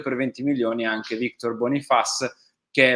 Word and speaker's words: Boniface: 20 milioni anche Victor Boniface, che è partito alla grande. Che non è Boniface, è Boniface.